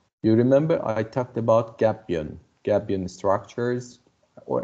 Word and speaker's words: gabion: gapion guardian structures or americans say sometimes gabion gapion is a kind of maybe in turkey they also say gapion this is turkish can be a turkish word also but gabbian commonly used uh as i told